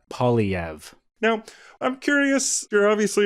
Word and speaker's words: Poilievre: The easiest way for an Anglo to say it is Poilievre.